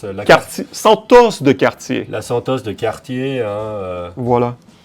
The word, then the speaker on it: la Santos de Cartier: If you want to say it properly, it's la Santos de Cartier.